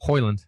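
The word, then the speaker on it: Højlund: van another Rasmus holand how do you say his last name holand holand um which sounds like a sauce to me holand sauce um who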